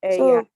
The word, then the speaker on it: ella: Ella.